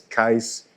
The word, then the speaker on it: Geis: And it says Geis pronounced like ice.